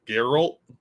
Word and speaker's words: Geralt: I can't pronounce that Daryl Daryl that's how you pronounce it Geralt Geralt yes dark Admiral